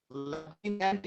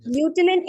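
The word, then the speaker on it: lieutenant: ओ, ल्यूटेनेंट in general होता है बच्चे। लेफ्टिनेंट इन जनरल वो प्रोनाउंसिएशन की वजह से लेफ्टिनेंट हो जाता है, ल्यूटेनेंट होता है।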